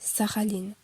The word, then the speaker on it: Sakhaline: Ici, il s'agit de son poème Sakhaline, prononcé Saraline en russe.